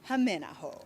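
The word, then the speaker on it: Hämeenaho: The first thing you need to know is how to properly pronounce his name. Here we go. It's Lene Haminaho.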